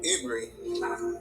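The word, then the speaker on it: עברי: And Eber is where they get the word Ibri from, which is how you say Hebrew in actual Hebrew language.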